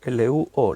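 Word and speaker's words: λύω: Cuando dice ahí que los elementos serán deshechos, esa palabra, deshechos, en el griego es luo, así como suena, L-U, con acento en la U, O, L-U-O, luo, que significa ablandar, soltar de las cadenas, quebrantar.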